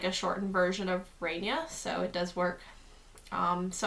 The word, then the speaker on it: Raynia: see it as like a shortened version of ray Nia so it does work so I will accept really either name but my full name now is ray Nia and that's how you pronounce it how thing I've noticed like even